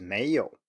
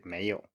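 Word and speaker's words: 没有: You can rise at the end here if you really want to, but most people just say 没有. They don't say 没有, even though your teacher might say that. If there was anything I would recommend here, it's simply to do the same thing for the second tone as we've talked about. Start a little bit lower, and don't forget to emphasize it all the way through.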